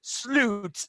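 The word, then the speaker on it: Slut: me now i know in swedish it's pronounced sloot but it means the end or final but it was just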